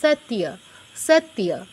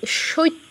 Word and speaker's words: সত্য: নাম্বারটার উচ্চারণ কি হবে তত হসন্ত মানে ততে টাচ আর এরপরে ইয় এর পূর্ণ উচ্চারণ সত সত এরকম এখানে কেউ সত্য বলতে যাবেন না অনেকেরই প্রবণতা আছে এটা